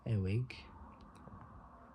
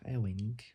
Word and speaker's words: Ewing: Kip Ewig, or Kip Ewig. No, wait, sorry. Kip Ewing or Kip Ewing.